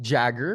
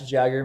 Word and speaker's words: Jaeger: have the great Jagger go ahead and introduce yourself Jagger music or my real name is the middle name is after Mick Jagger not spelled the same way but that's kind of